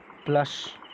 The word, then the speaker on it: plush: Access to द प्लश hotel. प्लश means होता है comfortable. Spelling देख लीजिए, PLUSH. ओके, प्लश है, ये प्लस नहीं है, SH लगा है, इसलिए से प्लश पढ़ेंगे, तालबिया शॉ पढ़ेंगे.